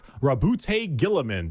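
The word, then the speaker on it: Roboute Guilliman: Primark Rabbout Gillaman.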